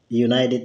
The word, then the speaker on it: United: Karena teman-teman, bunyi huruf pertama dari United ini yaitu bunyi Y bukan bunyi U.